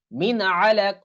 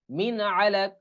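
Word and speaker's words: مِنْ عَلَقٍ: যে তারপর আইন আছে তাহলে কিভাবে কিরকম উচ্চারণ হবে মিন আলাক মিন আলাক মিম মিম নুন জের মিন আইন জবর আলাম জবর লাফ দুই জেরন মিন এরকম উচ্চারণ হবে নুনে সাকিনের পর গাইন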